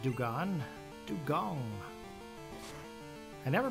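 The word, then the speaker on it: Dewgong: Dong. I never pronounce that right. Do I? Don. Dong. Like a gong. Weird. I just thought I'd always remember the animal saying anime saying do gone.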